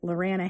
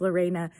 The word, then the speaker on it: Lorena: And so people tried to rhyme it, Lorana Hannah. And I was like, oh no, it's pronounced Lorena, but nobody could get it.